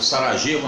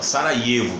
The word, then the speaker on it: Sarajevo: A primeira situação é o cerco à capital da Bósnia, Sarajevo, ou Sarajevo não, Sarajevo que se pronuncia.